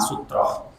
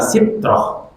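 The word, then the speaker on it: سترة: memahami apa sih makna sutroh. Kalau ditarji disebut dengan kata sitroh, tapi yang masyhur bacanya sutroh. Tapi boleh dibaca sitroh, boleh dibaca sutroh, boleh.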